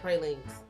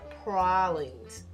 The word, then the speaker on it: pralines: gumbo bread pudding and pralinks correction prawlings i learned that i've been pronouncing that wrong my entire life i also learned a